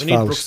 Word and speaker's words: Faust: Sorry, Faust. Where's Brooks? Faust. Faust. Yeah, it's Faust.